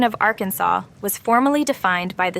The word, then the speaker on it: Arkansas: pronunciation Arkansas While others preferred the Americanized our Kansas to settle the matter lawmakers officially chose Arkansas aligning with the original French influence but adding a uniquely Southern twist to the state's name number 62 if you